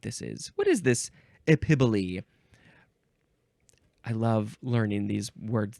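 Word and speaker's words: epiboly: Next is epibole. Epibole. This is spelled E-P-I-B-O-L-Y.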